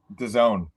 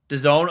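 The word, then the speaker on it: DAZN: Done. Done. Okay, that's what I figured. Um but I I just wanted to be sure. Uh so it's going to be on Done now.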